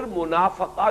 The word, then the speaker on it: منافقہ: جو ہے وہ بھی اگرچہ اردو میں ہم اس کو تلفظ عام طور پر کرتے ہیں منافقت، لیکن عربی زبان میں تو یہ گویا کہ اسی وزن کا لفظ ہے، باب مفاعلہ کا، مجاہدہ مقاتلہ منافقہ۔ اس مرحلے پر آ